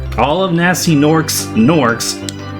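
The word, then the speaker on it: gnorcs: all of nasty norcs nors have a silent G in front of their spelling so step right this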